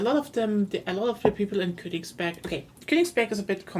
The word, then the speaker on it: Königsberg: Kongsberg. Kongsberg? I Königsberg. can't pronounce it.